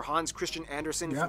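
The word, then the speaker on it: Hans Christian Andersen: its Mark whether it's notable figures like author Hans Christian Anderson that's actually how you pronounce his name wow it's not storing Kierkegaard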